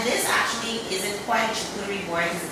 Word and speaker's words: charcuterie: But the actual pronunciation is charcuterie board. Oh, yes, it's charcuterie, because I was saying I wasn't saying the right thing.